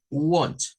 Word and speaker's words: want: Want, o sea, hacer sonar como una O.